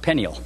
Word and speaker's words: Phanuel: There was also a prophetess, Anna, the daughter of Phanuel, or perhaps better pronounced, Peniel, of the tribe of Asher.